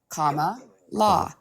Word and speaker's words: Kamala: Comma law.